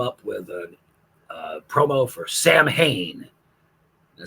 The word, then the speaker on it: Samhain: And I guess Billy had written a song at some point where the refrain in it was him saying Sam Hain over and over again.